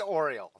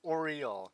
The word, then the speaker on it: Oriole: That is how you pronounce her name, not Oriole, not Oriole, not even just it's Oriole, like the bird. It's not Oregon. It's not Oreo, it's Oriole, like the bird.